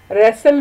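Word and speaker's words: wrestle: और H silent है, रेसल में डब्ल्यू और टी, और डॉटर में जी और एच, और नाइट में के और जी एच।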